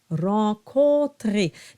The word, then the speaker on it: Rencontrer: Rencontrer. Now the O-N is a nasalized O. So you have an O, drop the soft palate, and then it's nasalized.